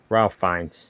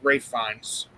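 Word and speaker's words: Ralph Fiennes: and uh ray fine should have won ralph ralph fines no no it's actually pronounced ray ray fines now forrest gump i'm pointed in this tier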